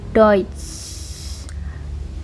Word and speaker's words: Deutsch: Nah, kalau ee dalam bahasa Jerman ya, kalau ada huruf E U kayak gini cenderung bacanya itu kayak oi gitu. Deutsch kayak bahasa Jermannya eh hari ini hari ini itu tulisannya kan gini bacanya hoit.